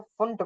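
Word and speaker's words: Pfund: और पढ़ने में तो ये पी फंड लग रहा है, बट जो पी साइलेंट रहता है उसका नाम जो है फुंट।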